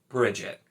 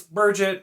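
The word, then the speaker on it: Birgitte: now the thing is it's spelled like burget and so it's burget you know i i've kind of forced myself to say burget because i know it's spelled that way it's b-i-r-g-i-t-t-e so it's definitely not b-r-i it's b-i-r and i know that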